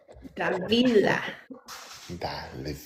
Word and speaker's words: Davila: Davila. Da, Davila. Davila. Where's the B at, honey? It's V, but you don't say I yeah, know. I know, honey. I just see Davila. Oh, Davila. Davila.